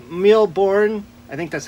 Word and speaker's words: Mille Bornes: miles but it's actually a card game called millborn i think that's how you pronounce it it's a french name essentially meaning